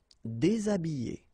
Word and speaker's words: déshabillé: Déshabillé. Déshabillé. Okay, so you can see that here, this H here, this letter is not pronounced.